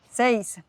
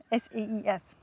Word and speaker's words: Seis: Seis. Also mit EI, S-E-I-S. Seis.